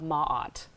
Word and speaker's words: Maat: I want to make sure I'm saying I pronounced this properly too so it's feather of Maat that's correct feather am mad right so first